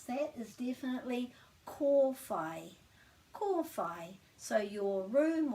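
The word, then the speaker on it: kōwhai: because we've got a so the way to pronounce that is definitely call phi qual phi so your room or your center or your um group is cor phi and it's not kawaii or kofi it's definitely core got that excellent and now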